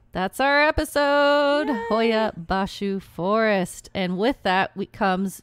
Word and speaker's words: Hoia Baciu: She's been sitting here practicing because, you know, she likes to get the pronunciations down right. So we've been practicing Hoia Baciu. That's our episode. Yay. Hoia Baciu Forest.